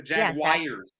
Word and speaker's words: Jaguars: jages the jaguares Katie she says the Jag wies that is how it is pronounce and by the way